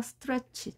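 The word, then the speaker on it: stretch: 방식대로 계산을 하면 되겠습니다 따라서 스트레치 짧게 반응합니다 스트레치 스트레치 우리말처럼 스트레치가 아니라 스트레치 짧게 모아서 발음을 하는 겁니다 english가 아니라 english english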